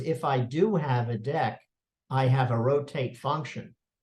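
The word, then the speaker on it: deque: Imports a feature called properly pronounced deck I pronounced a DQ and oh thank you um I pronounced a DQ but it's not it's it's dick well what does deck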